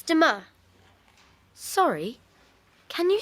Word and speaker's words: demain: It's demain. Sorry, can you say that again, please? Yes. It's demain. How do you spell that?